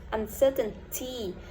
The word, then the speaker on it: uncertainty: Okay, remember when I pronounced it, I didn't pronounce uncertainty. Uncertainty. Okay, when T and N and T go together, we can drop T and we pronounce uncertainty.